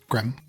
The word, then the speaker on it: Grem: I said it with a Y, but I don't want to say it wrong. Who are we talking about? The guy that I met with. Grem. Grim, okay.